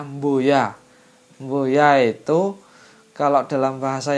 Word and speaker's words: boya: Kemudian yang selanjutnya adalah kata boya. Boya. Tulisannya sih cuma B-O-Y-A, tapi kalau lidah Jawa bacanya mboya.